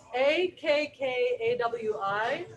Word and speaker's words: Akkawi: The Akawi? Akkawi. Sometimes I've seen people spell it Ackawi.